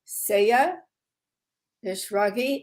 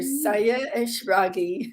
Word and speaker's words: Sayeh Eshraghi: a very special guest dr saya nishragi and i said it wrong again dr saya ashragi that was perfect hi judith thank you